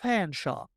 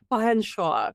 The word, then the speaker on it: Featherstonehaugh: So as we see Bambi Fanshawe, it's pronounced Fanshawe. Fanshawe.